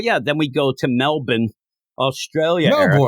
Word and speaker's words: Melbourne: then we go to Melbourne Australia as we say it's pronounced Melbourne so you end up